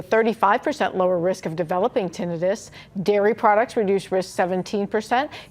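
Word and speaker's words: tinnitus: play a role in reducing your risk for tinitis. Some people call it tenitis, but I'm told the correct pronunciation is tinidis.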